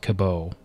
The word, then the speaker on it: Cabot: i talked to jack i'm gonna pronounce it cabo and we need to